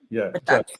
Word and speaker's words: JUXX: And when you said the business, so the company, and it's JUXX, right? Am I pronouncing it right? Yeah. JUXX.